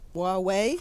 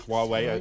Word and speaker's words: Huawei: of this company you're not even sure I'm pronouncing it correctly why Huawei Huawei okay that's my usage okay and they only